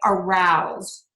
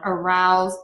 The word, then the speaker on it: arouse: you see a verb so if you see a verb that's spelled with s e like arouse a p choose those are all going to be pronounced with a z so again s e at the end of a verb we're going to pronounce that as a z sound arouse appease and choose okay and these those